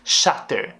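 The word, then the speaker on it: Chater: todo mundo sempre pergunta por causa da pronúncia é Alice chatter que escreve o nome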